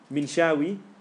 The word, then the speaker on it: Minshawi: Okay, Minshawi, Minshawi, Minshawi, or you can say in Arabic, but it's in English on YouTube.